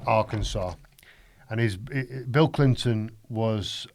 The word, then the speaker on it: Arkansas: states of america if you don't know his pronounced arkansas and his bill clinton was um all-powerful he